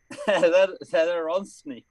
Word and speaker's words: Zadaronsny: Zadaronsny. Yeah, there you go. Zandarosny. Just sound it out. There's no silent letters or anything. Just sound it out. That's exactly how you say it.